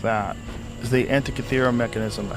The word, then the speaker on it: Antikythera: Is the Antikythera mechanism.